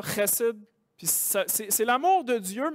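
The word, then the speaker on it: חֶסֶד: Mais on prononce ça chesed.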